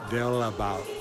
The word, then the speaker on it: Dalebout: It's Dalebout. That's not. It's Dalebout. Dalebout. Dalebout. It's a da. Their A is an A sound.